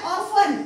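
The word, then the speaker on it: often: आहे कोणता लेटर आहे आपला हा टी आता ऑफन याला सुद्धा काय लिहितो आपण ऑफन आता समोरच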